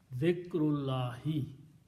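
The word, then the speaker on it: ذكر الله: Okay, so when you put an off, this will become one dhamma, and this will become kasra, and this will become hamzatul wasl, don't pronounce. Dhikrullahi, remembrance of Allah.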